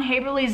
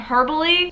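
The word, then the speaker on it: Haeberle: i keep saying ron haberly's name wrong i keep saying herbaly so i just want to address the fact that his name is haberly and anytime in the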